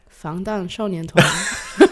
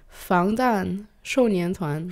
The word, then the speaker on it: 防弹少年团: Oh, I cannot pronounce that properly. 방탄소년단. 방탄소년단. 방탄소년단. 방탄소년단. There you go. 防弹少年团. Oh, is that in Mandarin? Yeah. Well, how to say it again? 防弹少年团.